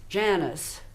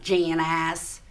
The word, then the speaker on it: Janice: with a texan draw it's janice not jan ass he's pretty he's getting the um the the the syllable jan ass so i can break